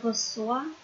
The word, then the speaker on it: reçois: Ở một số ngôi chủ ngữ phải thêm dấu móc ở phía dưới chữ C, nếu không thì sẽ đọc là cờ. Cho nên thêm dấu móc ở phía dưới thì sẽ đọc là sờ.